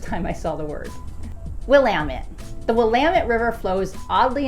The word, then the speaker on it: Willamette: incorrectly call it the Willamette. So the easiest way to remember the correct pronunciation is a rhyming phrase that you will find on shirts printed all over the place that simply joke, "It's Willamette, damn it."